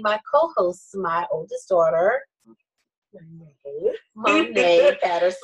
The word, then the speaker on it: Monet: co-host, my oldest daughter, Monet Patterson. Monet Patterson, M-O-N-E-T, a little asterisk over the E, the T is silent. Thank you. Okay. Okay, great, fantastic. So now you know Monet.